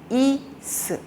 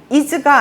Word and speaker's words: is: 그러다 보니까이 is를 어린이들이 이렇게 발음할 수 있어요. 이스 이즈가 아니고 이스.